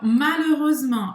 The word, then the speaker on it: malheureusement: Não Vai ser, a gente fala malheux, a gente não fala malheux, tá? Malheux, malheureux, malheureuse, malheureusement. Não pronuncia o T.